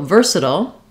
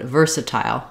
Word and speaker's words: versatile: vowel uh I like it's like the word tile like it's spelled so versatile one way and versatile versatile so because we